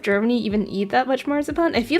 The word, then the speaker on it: marzipan: In in German, you definitely say matsipan. But I remember when I was younger and I ate one of those marzipan pigs.